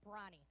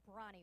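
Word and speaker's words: Bronnie: see but I'm sorry it's not Bonnie it's brawny I keep missing that are in there when I say her name her name is brawny where she was a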